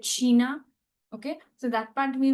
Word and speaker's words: China: China the spelling is same but we'll call it Shina.